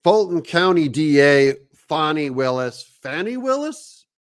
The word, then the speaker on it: Fani: Fulton County DA Fani Willis. Fani Willis? How do you pronounce it again? Part of it. You saw what happened in Atlanta with Fani, F-A-N-I, Fani.